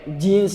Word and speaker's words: jeans: mubah boleh mau pakai jeans tuh kan serem banget ya pakai Jin pakai Jin pakai iblis pakai setan jans dibacanya jeans bukan Jin ya pakai Jin pakai